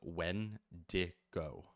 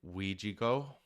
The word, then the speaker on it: Wendigo: The most common pronunciation of it is Wendigo. But there are other pronunciations like Ouijigo, Weijghoh is like how the pronunciation would be set up.